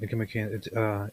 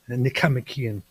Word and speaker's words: Nicomachean: You said it wrong though. You said Nicomachean. You're supposed to say Nicomachean.